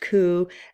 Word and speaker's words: coup: a coup injury so I know it has a p there but it's pronounced coup and so we might